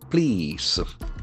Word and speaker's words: plea: On July 10th, please. P-L-E-A. That is a very important word in terms of its pronunciation. Plea. Plea, that E-A letters will give the longer E sound.